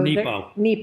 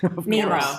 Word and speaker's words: Nepo: So Nepo. Mark Nepo. Did I say it wrong? Nemo. I said Nemo. But Finding Nemo.